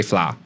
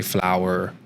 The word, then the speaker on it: flower: as easy as possible, like flower, we just say flour. But MK was very adamant, like these words we will not say. We will make sure SJ knows the right pronunciation. So, yeah, we don't say flour in my house. We say flower.